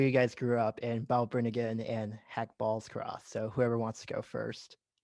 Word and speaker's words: Balbriggan: So, John, I see you grew up in Balbriggan, Ireland. Excuse me for the mispronunciation, No, that's perfect.